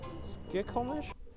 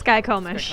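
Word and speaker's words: Skykomish: Skikomish? Sure. No? Skycomish. Yeah, Skycomish. Skycomish? Or Skikomish? It's Skycomish.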